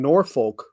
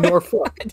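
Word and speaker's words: Norfolk: we came down and we called Suffolk and nor folk as as it should probably be pronounced but it is in fact sauck and nor folk if you're down there yes that is how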